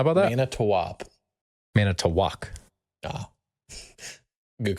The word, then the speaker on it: Manitowoc: Manitowoc. Manitowoc. Ah, good call. Huh. Good call on the pronunciation, or that it's in Wisconsin.